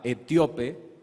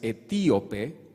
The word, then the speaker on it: etíope: va a variar porque siempre lo decía etíope, que resulta que en la mañana me di cuenta que es etíope, porque tiene tilde en la i.